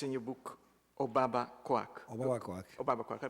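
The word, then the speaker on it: Obabakoak: It's in your book, Obaba Kwak. Obaba Kwak. Obaba Kwak. I pronounce it rightly? Obaba Kwak.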